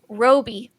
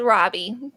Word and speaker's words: Roby: um next first off Roby didn't know that how you pronounced his name thought it was Robbie that threw me for